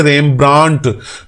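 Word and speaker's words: Rembrandt: और तीसरा है रेमब्रांट, इसमें डी साइलेंट करेंगे, रेमब्रांट।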